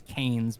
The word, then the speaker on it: Keynes: a guy named KES his last name is kaes but it's spelled k y NES and then I a